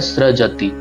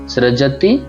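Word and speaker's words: सृजति: वैसे सजति है लेकिन नीचे रका रफ आ रहा है तो हमको उच्चारण करना पड़ता है। तो इसका उच्चारण कैसे होता है? सजति। सजति फिर आप देखिए किमु पादान।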